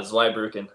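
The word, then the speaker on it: Zweibrücken: chicago fire you 23 two you need to pronounce this for me uh zweibruken there you go what was that progression like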